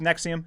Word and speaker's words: NXIVM: are you familiar with nexium do you remember this hitting the news cycle no it's nxivm is how it's spelled yeah yeah totally unfamiliar